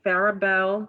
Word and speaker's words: Farrier: Is it Farrier Couture? Yeah, like with the ER, like Farrier, Oh, Farrier.